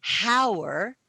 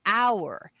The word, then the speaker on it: hour: we don't pronounce it hower we pronounce it hour so the h is silent so because the h